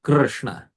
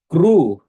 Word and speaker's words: Krishna: This Rkar is vowel in Krishna. So, but if we make it Kru, then the final sound you'll hear is Kru. And if you make it E, you'll hear Kri, Kri. But we don't want that. For accurate pronunciation, it should be Krishna, Krishna, Krishna, Krishna, Krishna. So this is how, that is the accurate pronunciation.